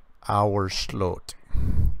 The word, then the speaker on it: Owerslot: Owerslot. Yeah, that sounds very. You probably you want to say it like ooh, but you just have to figure it's O A, like boat.